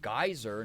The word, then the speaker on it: geyser: personally says it as geyser, not geezer, because geezer means its own thing. Yeah, geezer means like an old person. It's like a mean way to call like an old person, right? The correct pronunciation should clearly be gazer.